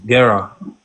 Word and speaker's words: Gera: Gera. That's how you say it.